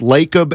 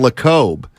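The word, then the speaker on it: Lacob: didn't I said I've heard your last name pronounced lakub and Le Cobb and his first response was yo I don't it doesn't matter and I said really he goes yeah I've heard both it's fine really yeah I said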